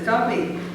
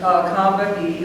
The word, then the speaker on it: Combahee: were being interviewed, and they always referred to it as Combahee. And so I've been telling people that. I said, well, we pronounce it the way that black women in the Northeast, we saw 3 syllables, so we pronounce all 3.